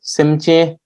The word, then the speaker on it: Simjian: Here only two syllables. Simjian. Sim.